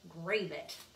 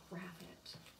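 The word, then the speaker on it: Gravett: i keep telling myself it rhymes with rabbit because i think she's an english illustrator and i think in our american heads we'd probably say grave it but it's graphite another beautiful book so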